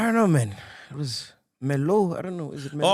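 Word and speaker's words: Merlot: Melots, It's Melo. Is it Melot. Melo or Melot? Not Melot. Is it Melo or Melot? It's Melo. Hey, Kalubuza, hey, It's a Melot.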